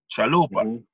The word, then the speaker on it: Traloopa: So I said, okay, I'm gonna spell it the same way, TR, but I'm gonna say ALOOPA, Traloopa.